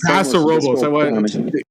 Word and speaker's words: Paso Robles: If you are in the San Robles, I feel like I always mispronounce it. What is it? The San Paso Robles and Paso Robles.